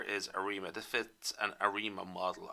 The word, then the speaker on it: ARIMA: arima that fits an arima model i pronounce it as arima but other people might say arama i'm not quite sure anyway so we fit